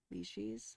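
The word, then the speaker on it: Licis: L I C I S. Last name. Leashes. Leashes. Okay.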